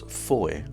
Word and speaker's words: Fowey: The original name of Fowey was Foy, and the current name is still pronounced that way today.